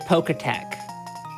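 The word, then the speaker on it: Pokétch: I always pronounced it Poketech. Poketech. I think it's supposed to be like a watch. Then should it be Pokach? I thought it was Poketch, personally. That's how it's spelled. I always thought it was Poketech. Like the E was like elided, but it was still. Yeah, I think it's just Poketch.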